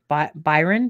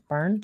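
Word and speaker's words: Byrne: and it's by rhonda i always say our last name wrong byron byron bern she's from the secret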